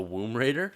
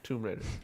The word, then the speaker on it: Tomb Raider: You gotta say womb, and it's whatever womb is. So tomb. This is a Womb Raider? Tomb Raider. Right? Did I say it right? It's Tomb Raider.